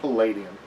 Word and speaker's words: Palladium: I will dwell more into the realm of the Palladium books with and it is pronounced Palladium.